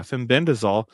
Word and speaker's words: fenbendazole: fenbend dazole. Yeah, fenbendazole.